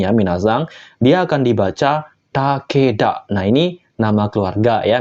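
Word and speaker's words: 竹田: sawah kayak gini ya minazang dia akan dibaca Takeda nah ini nama keluarga ya minazang nama keluarga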